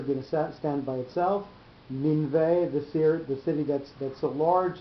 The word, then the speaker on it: Nineveh: You see, when we've got the word with the two notes on it, it's Nineveh, and when we've got it just with a tipcha, it's Ninveh. So that's why he did